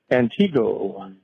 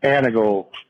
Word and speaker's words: Antigo: And the wife and I got a real good laugh at your annunciation of Antigo. It's Anigo. Uh we have a lot of uh names that get mis uh pronounced here in Wisconsin.